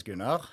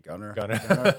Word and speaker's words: Gunnar: Yeah, in Norwegian it's Gunnar. Gunnar, okay, yeah, perfect, yeah. But in the US it would be Gunnar.